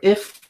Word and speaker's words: IFTTT: go to the homepage for if is what they pronounce it and so you will